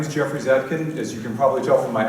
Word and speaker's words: Zatkin: It's pronounced like, yeah, Zatkin.